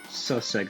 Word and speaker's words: Sosega: Sosega is how to pronounce it. That's a weird pronunciation, but I guess it's fine.